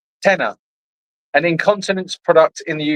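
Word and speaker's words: Tena: It is pronounced tenner, an incontinent product in the UK.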